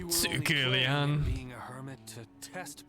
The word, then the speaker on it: Liang: Liang is pronounced as one syllable rather than two.